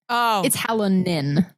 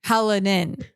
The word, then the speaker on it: Hallinan: There's no D. It's Hallinan. Haladin.